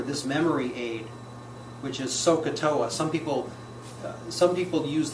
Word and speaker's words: SOHCAHTOA: over adjacent and if you could you could pronounce it as sohcahtoa you can have it you can get a